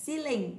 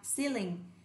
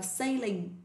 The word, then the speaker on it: ceiling: Nào, từ đầu tiên là ceiling, đọc lại ceiling, không đọc là sailing nha, đọc tên là ceiling.